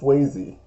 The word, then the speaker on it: Swayze: It's not Swansea. It's not Swaziland. It's not Switzerland. Ain't none of that. It's Swayze.